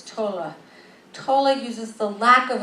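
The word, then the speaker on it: Tolle: attitude Tola excuse me I'm trying to learn to say his name right it's Tola totally uses the lack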